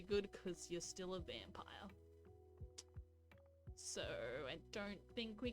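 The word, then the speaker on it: Vampyr: vamp vampire i think it's supposed to be pronounced vampire with a y we're starting on that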